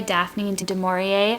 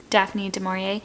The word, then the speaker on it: Daphne du Maurier: It's Jamaica Inn, and it's by Daphne du Maurier, I think, actually, is how you say it. Daphne du Maurier.